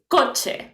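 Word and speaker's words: coche: so if you remember we said that the age is silent but when is with the letter c okay before so we have another sound that is che so here we have a picture and you can imagine what is code here okay so the pronunciation as you can see and i i pronounce right now is kochi okay can you pronounce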